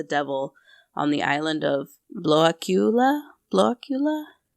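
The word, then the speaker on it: Blåkulla: on the island of blockula blocula it's spelled like Blacula but it's pronounced like blockula in the Baltic Sea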